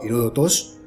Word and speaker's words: Heródoto: La historia nos lleva a Heródoto, siglo V a.C., su nombre se pronunciaba Heródotos, historiador y geógrafo griego,